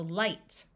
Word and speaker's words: light: with a GH is IG G which has the long I sound so light High we can add suffixes